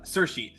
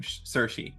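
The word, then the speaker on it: Saoirse: Um and yeah I uh Cersi Cersi Cersi Una Ronin is her name. Cersi.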